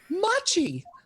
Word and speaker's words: Machi: Machi. Rhymes with mochi.